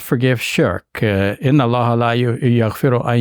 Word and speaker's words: shirk: So I should say something about what is meant by shirk. Shirk is an Arabic word which sounds like shirking and spelled the same way as shirking your responsibilities, right?